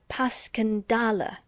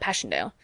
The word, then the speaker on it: Passchendaele: I may ask because that's the way I pronounce it to myself but I looked it up and it's more like Baskin dolla bless you all the Tommies call it Passchendaele just as they called ypres wipers how interesting you know mr.